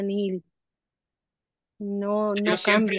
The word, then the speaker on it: nihil: En latín se escribe nihil y se dice nihil.